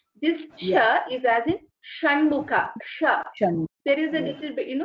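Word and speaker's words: षण्मुख: This sh is as in Shanmukha.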